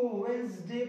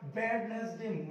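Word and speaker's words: Wednesday: एम उड़ गए इस इसको वेनसडे पढ़ना है वेडनेसडे मत पड़ना गलत मारेंगे देंगे अमेरिका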